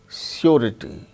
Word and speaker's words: surety: But r sound is pronounced when it is followed by a vowel sound, as in the case of surety, surety, surety, RITY, rity. So, r sound is followed by a vowel sound E. So, r is pronounced surety.